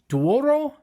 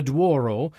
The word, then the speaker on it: Douro: Dwarro and Bronco.